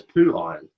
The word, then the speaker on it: POOHIRON: It pronounces as poo iron.